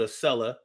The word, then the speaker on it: Acela: I rode a seller Amtrak every day when I first moved to Philly. It was $43 each way. So you paid $86 every day? Oh, I was saying it right. A seller.